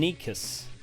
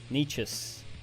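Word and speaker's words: Nečas: guy's name is right so that is pronounced Martin Nikas or nus niches depending on where you're from he is from NOOA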